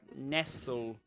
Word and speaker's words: nestle: And like nestle. You know that word nestled or nestled. In all these words, you don't pronounce the T.